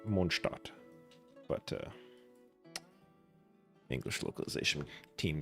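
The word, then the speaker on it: Mondstadt: which theoretically should be pronounced monstat but uh English localization team doesn't really care.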